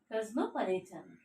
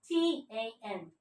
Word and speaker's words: cosmopolitan: Cosmopolitan. The pronunciation is Cosmopolitan. This one S. Okay. But when you pronounce it, in that time I have to pronounce it with Z sound.